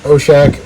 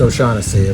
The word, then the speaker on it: O'Shaughnessy: um so that one's got the number four o'shack on it and the number six in the